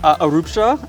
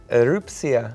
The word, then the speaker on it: Erupcja: Erupcja, am I saying it right? You're not. Okay. Erupcja? Okay, you want to try one more time? Erupcja. Erupcja.